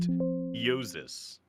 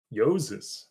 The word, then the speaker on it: Jousis: It is pronounced Yosis. Yoses.